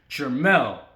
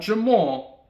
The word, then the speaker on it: Jermell: was going to be Jermell, not Jamal, Jermell, which is Little Charlo, the one that's spelled with the E, not the A.